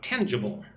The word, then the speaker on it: tangible: So, tangible. Tan-gi-ble. All right, put the stress on the first syllable, tangible.